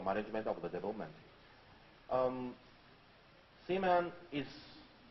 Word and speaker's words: Seaman: Tokyo um I'm strictly advised by Sega to pronounce the name of the title carefully it's c-man I try to be careful um first of